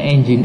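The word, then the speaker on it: nginx: servernya menggunakan Apache atau engine.exe yang bacanya enzyme Gitu ya Gitu ya bacanya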